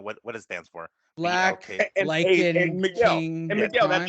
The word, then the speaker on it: BLK: It's BLK. Yes, it's BLK because they're capitalized. It's But not how a do word. you? So I've got to say BLK instead of black.